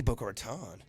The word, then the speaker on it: Boca Raton: you don't right yeah how do you say it Boca Raton Boca Raton book or time they see book or tone you are born and